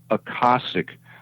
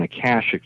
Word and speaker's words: Akashic: He said, yes, it is, but it's pronounced Akashic rather than Akashic, the way we pronounce it on Earth.